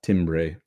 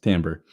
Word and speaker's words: timbre: responsible for tamber um not Timbre pronounced tamber um and and overtone